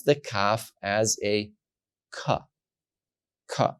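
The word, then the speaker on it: כ: like King for example when there is no Dot you pronounce the cough as a it's a rougher it's a breathing sound ha you rub the letter with your throat so that it doesn't pronounce the hard k sound but the rougher sound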